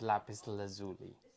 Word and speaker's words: lapis lazuli: people call it Lapis Lazuli, but it is Lapis Lazuli.